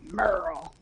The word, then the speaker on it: Merle: gotta say it like that, Merle.